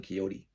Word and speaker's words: Quixote: We put the X when we pronounce it quixotic, but we don't pronounce the X when we say Don Quixote.